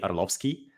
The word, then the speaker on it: Orlovskiy: Alexi oh oh no orlovski yeah it's it's pretty close uh it's it's very close uh originally the r is pronounced so it's Alexi Arlovski but all right there